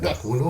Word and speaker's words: Dacuno: Do I pronounce it Dacuno? Is it Correct, no? Yes, Dakuno correct.